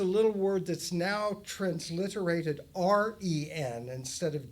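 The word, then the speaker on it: 仁: word that's now transliterated r e n instead of j e n. It's pronounced ren like r e n would sound.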